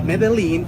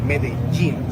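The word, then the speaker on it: Medellín: Ju in which we when we have two L's together, we pronounce it as G. It happens with pojo. It's not pojo. It happens also with medin. So it's not medalene.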